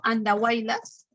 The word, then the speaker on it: Andahuaylas: Ahora, recuerda, por ejemplo, este término andahuaylas. ¿Ya? Se escribe con Y al centro, pero tiene sonido I, ¿no?